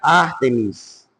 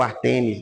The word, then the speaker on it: Ártemis: na em Éfeso havia ártemis ou Artemis né De acordo com a pronúncia de alguns essa variação que era